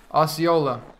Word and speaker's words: Osceola: if you were to donate that's how you pronounce it ah see Ola osceola oh okay thank you now I get a